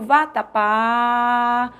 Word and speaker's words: vatapá: é a sílaba tônica Você vende a palavra Olha o vatapá olha aí ó VAT quando essa sílaba se alonga ela é a sílaba tônica venda picolé olha o